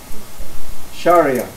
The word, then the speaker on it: Sharia: Islam it's specifically Shari how do you pronounce this Sherea Sherea close enough Sharia and that's moral code